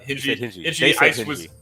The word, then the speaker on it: Hingy: Did we determine how to pronounce that? Yep. He said Hingy.